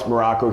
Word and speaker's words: Maroko: Coach Alex Maroko here, pronounced just like the country spelled, nothing like it.